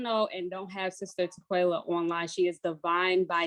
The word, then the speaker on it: Tequella: Tequella.